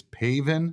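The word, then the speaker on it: Pavin: to pronounce Pav's name it's paven Smith paven uh paven pav just need to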